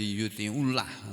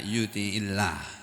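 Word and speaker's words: يطع الله: Lalu karena bersambung dengan alif lam, lafzul jalalah ini jadinya tidak menjadi yuti'ullah, susah bacanya. Jadi dibaca yuti'illah.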